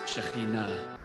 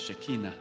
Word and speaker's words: Shekhinah: I know it is not easy to say that word, to pronounce Shekhinah, commonly mispronounced as Shekinah.